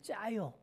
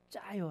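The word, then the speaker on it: 加油: 그래서 가유 가유 있데 중국식 발음으로 짜요 이렇게 발음을 하는 것이죠 자 그래서 기름을 더하라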